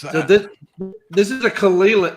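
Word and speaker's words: Caol Ila: How do you pronounce that? Say it again. Mock. Yeah, Kalila.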